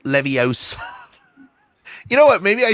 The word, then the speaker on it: Leviosa: Saying it wrong. It's Leviosa, not Leviosa.